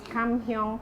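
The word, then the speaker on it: Kam Heong: This is Kam Kyung Prawns. Oh, I love that you pronounced it very correctly.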